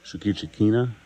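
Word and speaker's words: Shoukichi Kina: Two of the new things we've been playing a bunch is the Shukichikina. Is that how I pronounce it?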